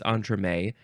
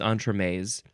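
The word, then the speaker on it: entremets: which looks plural uh it says when it is singular it's onra when it's plural it's on Tres it's a noun plural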